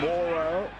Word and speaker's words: Morrow: co- captains with the ball and this is Morrow led to believe that's the way they want it pronounced Vic Morrow he'll play the ball just outside the 20